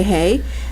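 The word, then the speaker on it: ה: in Hebrew the what letter hey is pronounced with air so you say hey and that means life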